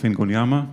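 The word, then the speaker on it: Ingonyama: my name is i'm the founder of ngonyama this is how you pronounce it the talk today is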